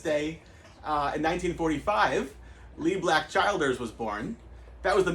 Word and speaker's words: Childers: It's Childers.